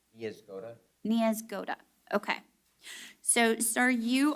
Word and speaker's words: Niezgoda: Niezgoda.